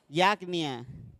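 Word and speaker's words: Yavne: Yacnia. Así se pronuncia, Yacnia, pero es así, miren. Es con H. La pronunciación hebrea es Yacnia.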